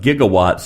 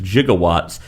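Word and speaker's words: gigawatt: Brown's pronunciation of gigawwatts as jigawwatts was based on the way a physicist with whom Zmechus and Gail met for research had said the word.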